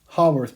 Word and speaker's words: Haworth: see here are called Haworth projections sometimes they're pronounced hollow earth projections here's another example showing